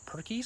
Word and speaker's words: Purkeys: The one we're gonna focus on today is an inverter battery charger set up by a company called Perkeys, spelled like turkeys with a P, which I'll link to.